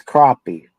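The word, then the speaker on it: crappie: It's crappy, but it's spelled crappy. All right. You You'd read it as crappy, but it's a cousin to the brim.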